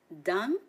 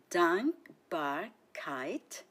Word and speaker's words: Dankbarkeit: 3 syllables in the word Dankbarkeit. Listen and repeat after me and have fun. Dankbarkeit. Dankbarkeit.